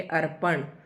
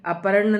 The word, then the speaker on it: अर्पण: जैसे अ फिर र पढ़ेंगे अर्पण। ठीक है? तो अर्पण है यह। अपर्ण ना बोले कई बोल देते हैं।